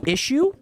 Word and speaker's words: issue: No, it's definitely pronounced issue. Even if there's no H there.